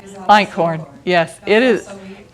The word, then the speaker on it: Einkorn: And I don't know how you say it, is Eichhorn? Einkorn, yes, it is.